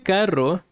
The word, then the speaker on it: carro: So this can be a little hard to pronounce. Este carro está igual de caro que los otros. So you need to learn to roll the R.